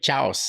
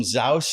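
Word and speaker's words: Xaus: And there was Ruben Chaus, remember? Exactly, yeah, exactly. Yeah, and some people called him Zaus and stuff like that.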